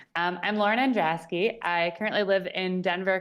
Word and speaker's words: Andraski: is a common occurrence to pronounce my last name wrong i'm lauren androski i currently live in denver colorado with my